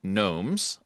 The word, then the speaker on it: Gnomes: the triple G here, the Gastonia Garden Gnomes. Uh so triple G in spelling but not in pronunciation.